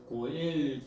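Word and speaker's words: גואל: 그니까 나오미는 보아스에 대해서에 보아스가 우리 친족으로서 어 기업을 물을 자 중에 하나다라고 그렇게 말하는데이 기업 물을자라고 하는 것은 히브리어로 고엘이라고 그렇게에 발음이 됩니다. 그래서 고엘 제도다 이렇게 이제 되는 것이에요.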